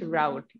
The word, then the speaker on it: route: So I said, is it route? Okay, I think you're using British pronunciation, but the American pronunciation is route.